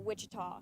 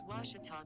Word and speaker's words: Ouachita: at a baptist university back in texas everybody pronounces it wichita but really it's ouachita washington washington how would you pronounce it it's washita baptist university get it